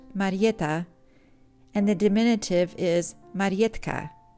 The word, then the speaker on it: Marietta: My name is Marietta, pronounced in Polish Marietta, and the diminutive is Marietka.